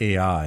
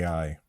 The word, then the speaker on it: Ai: I'm sorry.